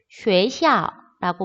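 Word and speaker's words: 学校: 자, 우에, 우에, 한 글자처럼 우에. 근데 X를 시옷으로 하니까 쉐, 시, 아, 오, 쉐샤라고 말을 하게 되면은 중국어로 학교라는 뜻입니다.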